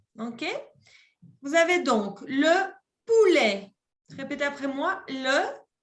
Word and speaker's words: poulet: Vous avez donc le poulet. Répétez après moi. Le poulet. Poulet. Non se prononce à la T.